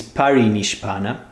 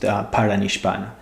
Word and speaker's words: parinishpana: This term, the right spelling and pronunciation is parinishpana, as you see there on the screen, but Blavatsky used paranishpana.